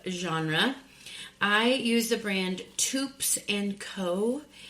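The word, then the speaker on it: Toups: I use the brand Tups and Co. Rhymes with Soups. T O U P S and Co.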